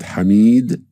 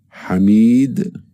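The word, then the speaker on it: حميد: It's pronounced as E, just like in the English word feed, E, feed. The first example is the word hamid, hamid.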